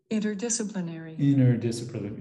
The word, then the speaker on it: interdisciplinary: So when he said interdisciplinary, it kind of sounded he elongated the E sound too much, because as you can see here in the dictionary, interdisciplinary. So we don't, interdisciplinary is, it has a short E sound, but what he said